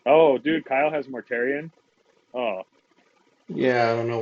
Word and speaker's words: Mortarion: Dude, it's fucking Mortarion. Mortarion. It's Mortarion. Yeah, you're getting better. Nice job. You said it right the first time, man. Yeah. I'm proud of damn it. Yep, it is. You fucked up now. Mortarion. Still saying it right.